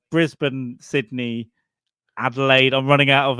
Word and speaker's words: Brisbane: It's pronounced Brisbane, and Brisbane, yes. Yeah. Well, in New York we call it Brisbane.